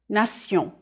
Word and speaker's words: nation: The French pronunciation is nation. Repeat, nation. If you know that the endings T-I-O-N and S-I-O-N are pronounced sion in French, you won't have much trouble understanding these French words.